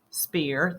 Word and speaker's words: sphere: the sphere and remember this is not sp not sp sphere think about how it is spelled the sphere that ph makes the f sound a sphere is shaped